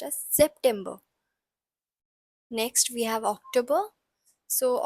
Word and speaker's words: September: it's pronounced as September remember that s has a little bit of z sound in it so it's pronounced as September next we have October